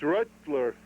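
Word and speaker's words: Röttler: Spelled the same, except you've got an umlaut, so it's Rutler. Excuse me? Rittler.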